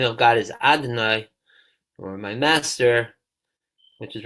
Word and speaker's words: Adonai: is because we even the name Yud Kei Vav Kei we pronounce as Adonai, because we're saying the highest realm of Yud Kei Vav Kei, which is really we're not allowed to pronounce. The only way we pronounce is Adonai.